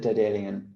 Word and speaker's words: Daedalian: How do you pronounce it? Daedalus? Good question. I pronounce it Daedalian. Daedalian.